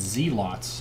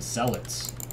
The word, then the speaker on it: Zealot: in the scene artosis he said zealots for a long time instead of cell it's which in the English language it is pronounced in zealot maybe there are some